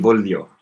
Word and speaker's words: voglio: Oh, no G-sound in voglio. Voglio. Okay. Sorry, people were... okay, but don't forget about the funny pronunciation for li.